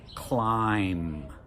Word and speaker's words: climb: We don't pronounce the B. Or in climb.